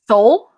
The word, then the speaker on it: Seoul: is it called sun i think it's pronounced sol like the the the capital of korea south korea but seoul yeah but i'm not